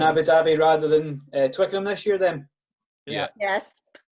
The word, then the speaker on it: Twickenham: Twickenham was pretty impressive. How do you say it? Twicken it? Twickenham. Twickenham. Okay.